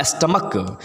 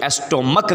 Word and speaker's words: stomach: Next question is there was a huge dash in द स्टमक, STOMACH। बहुत से बच्चे एस्टोमक कहते, एस्टो नहीं होता, स्टमक, pure pronunciation is स्टमक, पेट।